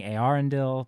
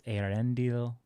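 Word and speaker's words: Eärendil: I've been saying Arendil, but it's Arendil.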